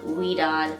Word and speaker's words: Ouidad: product line twist by i believe it's pronounced we don't and more specifically their